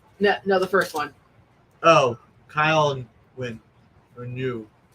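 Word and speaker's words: Kael Ngu: Oh, Kyle and Win. Or New. Kale New. Kale New, thank you.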